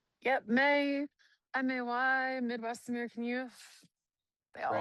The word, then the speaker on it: M.A.Y: Yep, M.A.Y, M.A.Y, Midwest American Youth.